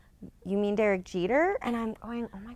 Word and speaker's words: Jeter: fan I am I go so how about yider yesterday and he's like what like Derek eater yesterday he's like you mean Derek Jeter and I'm going oh my God how could